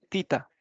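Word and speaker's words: theta: caso es la letra tita acen que esta letra se le se escribe así teta pero se le de tita Y entonces qué significa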